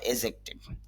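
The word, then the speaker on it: adjective: যদি আমরা অ্যাডজেক্টিভ বলি তবে শুদ্ধ উচ্চারণ হবে এজেক্টিভ, অর্থ হলো বিশেষণ।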